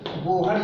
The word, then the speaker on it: Bohr: इसे कंफ्यूजन नहीं करेंगे, बोर लिखे चाहे बोहर लिखे, क्योंकि स्पेलिंग होती है BOHR। तो नाउन है, इसको चाहे आप बोर्ड पढ़िए चाहे बोहर पढ़िए, उससे बहुत ज़्यादा प्रभाव नहीं पड़ने वाला है।